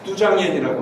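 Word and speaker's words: 都江堰: 이게 유명한 도강원이라는 중국 발음으로는 뚜장옌이라고 하는데 오늘날 현재까지도 사용되고 현재까지 남아있는 가장 오래된 제방시설이에요.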